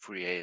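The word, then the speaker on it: Fourier: Uh, so a guy with the name uh Furier or Furier um I think that Furier is the more correct pronunciation was a Frenchman.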